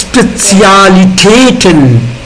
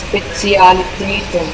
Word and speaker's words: Spezialitäten: Like Spezialitäten. All are single. All vowels are single here. Not followed by single syllable, right? Ja. Although the emphasis on all I, E, R, E and A, right? It's Spezialitäten. Spezialitäten.